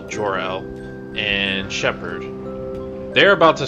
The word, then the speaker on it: Gerald: we got me uh it's spelled gerald but he said it was pronounced like superman's dad so jor-el and shepherd they're about